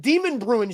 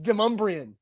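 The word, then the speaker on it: Demonbreun: in lebanon it's in lebanon lebanon it's not demon bruin street it's demumbrian it's not that hard to have somebody double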